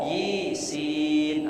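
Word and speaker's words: يس: Dan juga bacaan Yasin ini kalau melihat kepada ahli qiraah, ini ada yang membacanya yi, bukan ya. Yi sin, ada yi sin. Boleh asal tahu ilmunya. Jadi tidak dibaca Yasin, tapi yi kasroh, yi sin, macam-macam ya ahli qiraah ini.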